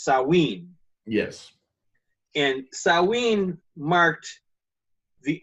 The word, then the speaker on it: Samhain: I've for years pronounced it Samhain, but the Celts have their own pronunciations for everything, so it's Samhain.